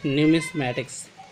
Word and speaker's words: numismatics: अब question number 2 है कि the study of coin is called न्यूमिस्मैटिक्स, तो उसको हम न्यूमिस्मेटिक कहेंगे, NUMISMATICS, न्यूमिस्मेटिक्स।